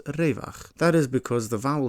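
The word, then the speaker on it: רווח: So if you were to see the word raivach, for example, in a Hebrew language text, you wouldn't pronounce it as raivach, but as revach.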